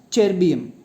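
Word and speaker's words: ytterbium: europium and terbium, so YB should be pronounced as terbium. Y வந்து சைலண்டாக இருக்கணும். Already டெர்பியம் அப்படின்னு ஒரு எலமெண்ட் இருக்குது. ஸோ இதையும் ஸோ YTTERBAUM இதையும் என்ன பண்ணணும், டெர்பியம் தான். ஒயிட் சைலண்டாக வச்சு தான் நீ ப்ரொனவுன்ஸ் பண்ணணும்.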